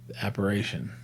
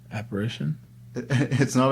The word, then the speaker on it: apparition: how to print apparition operation apparition apparition it's not an operation you're such a grammar nazi it's not like referencing that's how you pronounce it gari the apparition